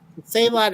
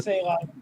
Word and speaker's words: Salat: what a Salat is, McCoy actually pronounces it completely different when he asks. I never figured that out. Sell it. Yeah. Sell it.